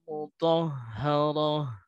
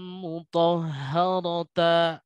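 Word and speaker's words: مطهرة: Nah, pengecualian ini ditekankan oleh mualif yang mengatakan yatlu suhufam mudhaharah. Jadi cara membacanya bukanlah yatlu suhufam mutaha. Nah, itu salah.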